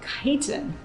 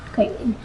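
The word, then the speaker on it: chiton: called a gumboot chitin.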